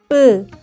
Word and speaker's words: 뿌: When pronouncing, 뿌, pronounce 그, while tensing your throat.